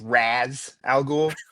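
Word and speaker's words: Ra's al Ghul: Well, first I want to correct you yet again because I I do believe it's pronounced Raz Al Ghoul.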